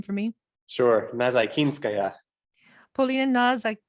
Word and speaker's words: Nazaykinskaya: Would you pronounce her last name for me? Sure, Nazaykinskaya. Polina Nazaykinskaya.